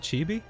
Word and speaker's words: chibi: Ramsey King is it chippy and not chibi she chibi is actually the proper pronunciation oh right okay so